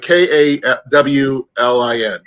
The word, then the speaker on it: Colin: I mean, when I actually the Irish spelling sounds like Colin, like Kawlin. It's the way it's pronounced.